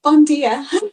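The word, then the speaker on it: bon dia: Uh, bondia.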